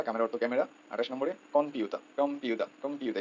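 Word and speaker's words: コンピューター: অর্থ ক্যামেরা 28 নম্বরে কম্পিউতা কম্পিউ কমপিউতা এখানে কিন্তু ম নেই এখানে ন লেখা সো এই নটাই ম এর মত উচ্চারণ হবে কম্পিউতা ঠিক আছে তারপরে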